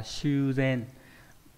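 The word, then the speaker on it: 修繕: Chữ tu và chữ thiện. Đọc là Shuzen.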